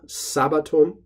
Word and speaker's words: sabbatum: One thing to notice is just that the emphasis or the stress accent falls on the first syllable, sabbatum. Easy way to remember that is just to say Sabbath to yourself.